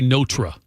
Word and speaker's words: Notre: Every time I say it now, I'm going to pause and say notra. That's how it's supposed to be pronounced. Took me years. It's the way they say it in Paris.